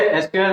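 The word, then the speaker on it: SQL: एसक्यूएल को आप सीक्वल भी होते हैं और एसक्यूएल जो भी आप प्रोनाउंस करते हैं।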